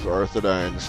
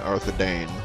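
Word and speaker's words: Arthedain: Yeah, that fucking percentage is going way out of Arthadine's favor. Oops, I said Arthadine, I meant Arthadane, my bad. don't want nobody to get mad at me for mispronouncing that.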